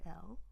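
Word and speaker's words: EXO-L: Is it an XOL?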